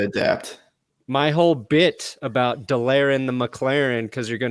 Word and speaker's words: Delarrin: I think it's Delarrin, like the DeLorean.